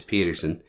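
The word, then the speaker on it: Pedersen: Ted Peterson Peterson yeah it's spelled p d ER seen but I'm going to say it's Peterson and uh he will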